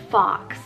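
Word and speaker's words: Fawkes: without naming one so this is the name fox spelled f-a-w-k so this one's a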